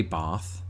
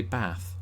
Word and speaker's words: bath: I don't say bath, I say bath.